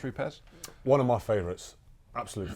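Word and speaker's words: Rupes: it now we've got roots calm here yes Italians it should be pronounced repairs one of my favorites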